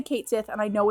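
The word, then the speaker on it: Cait Sith: Fauzi says, in actual Gaelic, you know, the language it's from, it's closer to Ketchi.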